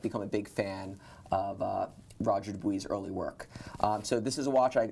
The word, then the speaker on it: Roger Dubuis: You know, we call it Roger Dubuis, but we'll just call it Roger Dubuis because we're here in the U.S. and that's Richemont's anointed pronunciation for the brand.